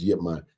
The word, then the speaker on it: Ip Man: They spell it IP in Mandarin, but in Cantonese it's Yip Man.